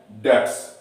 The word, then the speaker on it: debts: बेड क्या है बेड डेट्स बेड एस बोलते हैं क्योंकि बीच में साइलेंट होता है और ये लॉस होता